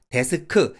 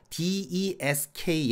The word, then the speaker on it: desk: 일단 desk 이거를 데스크 이렇게 삼음절로 발음하는 건 아니다. 모음을 다 빼야 한다. 제가 정말 여러 차례 반복해서 말씀드린 내용이고요. 그래서 desk 얘네를 발음할 때 desk,